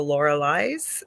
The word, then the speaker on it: Lorilei: But my name comes from German mythology called the Lorelei's. So that's why it's spelt like that, but said Hmm. Lorelei.